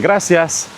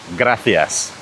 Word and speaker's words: gracias: Likewise, words, or letters, should I say, like C and Z are pronounced like th. So, think. It's not Barcelona, it's Barcelona. In Spain, rather than saying gracias, they will tell you gracias.